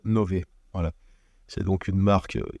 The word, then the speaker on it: Nove: mais en tout cas sachez que l'officiel la prononciation c'est Nové voilà c'est donc unee